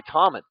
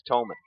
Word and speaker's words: Tolman: saying Tolman, and then I heard the PA guy say Tommen. So I thought, okay. Gary McKee here helping me out. Gary McKee of Bear Lake Realty in Garden City helping me out with pronunciation. It is Tolman.